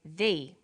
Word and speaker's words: the: banana and the bananas there is a difference in pronunciation though when the comes before a vowel sound we say thee the apples so the before vowel sounds and before consonant sounds let's look at the